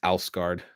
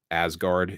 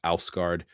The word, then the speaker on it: Asgard: bit in between uh thor is the protector of ausgard asgard if you prefer to pronounce it that way but ausgaard is closer to the way it probably would have been pronounced and the protector of